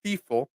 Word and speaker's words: Stiefel: well my German name stifle is very hard um Everybody mispronounces right there stifle because the way it's spelled it should be pronounced steifel uh but our name got Americanized to stifle uh but so so